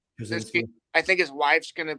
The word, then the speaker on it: Krasinski: How do you pronounce his last name? Krasinski. Krasinski.